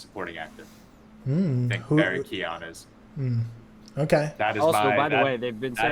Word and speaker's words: Keoghan: No, it actually is Keoghan because he pronounced.